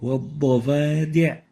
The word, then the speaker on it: والضفادع: وَالضَّفَادِعْ وَالضَّفَادِعْ.